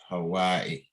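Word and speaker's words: هواء: So you pronounce the Hamza on the end. Hawaii. Yeah. Or just stop, like give us like a slight stopping sound at the end.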